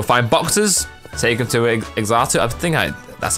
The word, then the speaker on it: Xatu: Take him to Xatu, that's how you pronounce the name, and he'll open them, and you can find rare items.